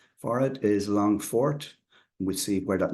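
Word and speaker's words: Longphort: Longford uh the spelling in Irish uh and pronunciation for it is longfort we see where that name came from and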